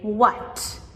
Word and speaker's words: what: So, in our words like what or when, we have the w h beginning. However, we do not pronounce this h with the h sound. Right? We just say what as in w a t.